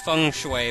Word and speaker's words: Feng Shui: Technically it's pronounced Feng Shui, but I don't care, Feng Shui sounds funny, so I'm calling it a Feng Shui.